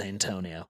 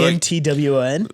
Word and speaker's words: Antoine: she'd read Antoine and then say, that says Antonio. Antoine. And we just renamed one of our coworkers. So Antoine is spelled like Antoine, like 9 it's or whatever.